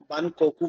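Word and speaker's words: バンコク: तो जहां पर भी एल का प्रोनाउंसिएशन होता है वहां पर यह आर से उसको प्रोनाउंस करते हैं। तो लंदन की जगह बोला जाएगा रनक बकॉकक बकॉकक को बान कोकू बोला जाता है।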